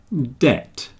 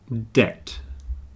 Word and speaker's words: debt: with high and liar debt debt doubt doubt and subtle you see they all have something in common they all have the silent B debt doubt subtle debt